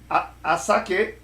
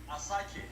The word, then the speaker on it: Asake: Did I pronounce it well? Asake? Asake.